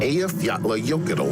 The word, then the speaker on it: Eyjafjallajökull: Next is the volcanic eruption which many have heard of, but few can pronounce its name. Eyjafjallajökull volcano.